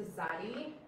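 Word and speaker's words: צדי: And it makes a TS sound, like in the English word rats.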